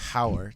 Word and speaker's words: hour: with an H correct hour the time the time thing okay because that makes sense the H is silent the H is silent